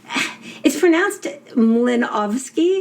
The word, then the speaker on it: Mlynowski: So it's pronounced Mlynowski because it's a Polish W.